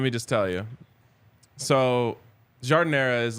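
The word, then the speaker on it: giardiniera: what I have no idea what that is jardinera jardinera peppers come on culture you can go buy a whole jar at one of their stores or even on their website let me just tell you so jardinera is like a medley of peppers A Little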